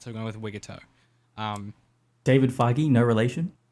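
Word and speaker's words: Wigutow: I looked up how to pronounce this and it's Wigatau but that sounds really stupid in my accent so I'm going with Wigto.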